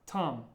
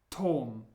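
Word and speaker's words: Том: is the name Tom remember to watch your pronunciation of the or however in English it's pronounced more like an ah sound Tom but in Russian Tom let's try the next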